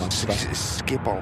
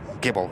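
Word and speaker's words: Schiphol: Skipp from Skiibble. Skiibble. Skiibble. Gibble. It's a G rather than the S C.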